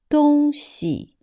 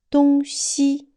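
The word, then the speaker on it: 东西: Like here, 东西 and 东西. So we also have to memorize them one by one. When 东西 means the position, but 东西 neutral tone means stuff, things.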